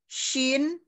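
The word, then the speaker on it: ش: Kalau shin dia shi, shin, shin, shi, shin, shi, kalau shin pengucapannya dia makhrajnya itu dia cara pengucapannya itu dia tengah lidah bertemu dengan langit-langit tengah atas gitu.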